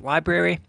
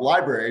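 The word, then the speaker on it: LBRY: someone from lb ry I pronounce it library and that's technically probably not correct but it's an awesome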